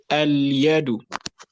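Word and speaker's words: اليد: This is one of the words that are commonly mispronounced. The dal is mistakenly given a shadda, so people say al-yadu, which is wrong. So that is shadda, it is al-yadu.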